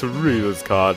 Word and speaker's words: Rouxls Kaard: 'Tis I, the GREAT ROUXLS KAARD (pronounced rules) this is a weird